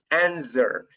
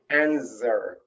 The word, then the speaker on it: answer: no as well no answer it's mispronounced you don't pronounce the w okay so it's like connecting answer answer okay this is